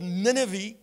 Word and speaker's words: Nineveh: It was written to a man who was called by God to go to a city called Nineveh, or Nineveh, whatever you, how you want to pronounce it.